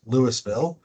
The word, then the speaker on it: Louisville: Uh, so Adam Blackmore, I'm the director of parks, record open space for the city of Lewisville, uh, Colorado, spelled like Louisville, pronounced Lewisville.